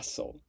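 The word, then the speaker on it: facile: Don't really know how to pronounce this word. So, I am going to search it up. Fel. Fasil.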